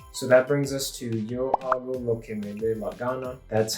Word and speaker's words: Yo hago lo que me dé la gana: So that brings us to Yo hago lo que me dé la gana. That's how you pronounce that.